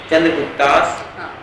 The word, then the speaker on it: Chandragupta's: ना ये आप नहीं देख रहे last letter Chandragupta's grandson Ashoka, who introduced Buddhism to India.